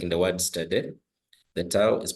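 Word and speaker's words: θῆτα: Then the theta is pronounced as Thi, just like in the word think.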